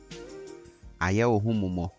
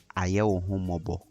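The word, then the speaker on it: Ayɛwohomumɔ: Aye Mo. Aye Mo. Some also pronounce this as Aye Mobo.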